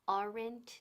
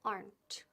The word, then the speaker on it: aren't: Now, ojo, muy importante, aren't tiene una sílaba, no dos. No decimos aren't ni aren't, no. Aplasta la E ahí, la E fuera. There aren't.